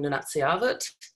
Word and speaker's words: Nunatsiavut: So I'll just note quickly that I am an Inuk from Nunatsiavut. Is how you pronounce that, Wayne.